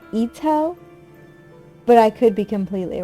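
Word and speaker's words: Itō: then i don't know her last name is i-t-o with a little dash above it so i pronounce it ito but i could be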